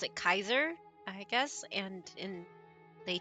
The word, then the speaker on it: Caesar: Um, but they pronounce it Kaiser, I guess.